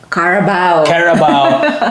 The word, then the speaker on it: carabao: And you see the caribou, how do you pronounce that again? Carabao.